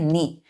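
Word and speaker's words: knee: के एन ई ई इसको क्या पढ़ते हैं नी यहां पे बच्चों के साइलेंट है नी पढ़ेंगे तो नी से लेकर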